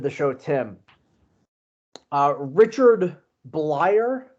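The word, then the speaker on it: Bleier: show tim uh richard bleyer is that how you pronounce it reliever for the marlins mark uh yes i believe it's blyer okay so uh had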